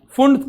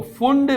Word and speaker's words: Pfund: तो यहां पर अगर मैं फुंड की बात करूं, यहां पर पी साइलेंट होता है मेरे बच्चों, है ना, PFUND, तो फुंड बोलते हैं, पी साइलेंट है, फुंड सीरीज।